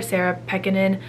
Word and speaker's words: Pekkanen: book that I read by this author Sarah peckinen I learned that that's how you pronounce the author's name a few days ago when I started the audiobook I've read the golden